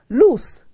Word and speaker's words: loose: and it's pronounced lose loose means not tight the spelling is l-o-o-s-e and pronounced loose i'll see you next